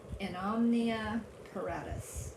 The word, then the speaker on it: In Omnia Paratus: In Omnia Paratus, I believe is the way you pronounce it in Latin.